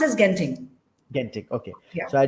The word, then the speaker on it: Genting: So it's pronounced as Genting.